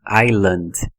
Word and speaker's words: island: dicionário de transcrição fonética algumas letras não TM som então por exemplo na palavra Island olha aqui a transcrição fonética tá vendo ó ela tá certinha com a pronúncia Island Island Então eu tenho i